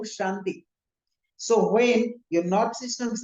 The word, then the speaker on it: Shanti: When you're chanting Om Namah Shivaya, we say Shivaya, Shivaya, we say Santi Santi, no, Om Shanti.